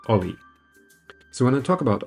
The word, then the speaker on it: o11y: And O11Y is not much shorter than observability, that's why it's pronounced OLI.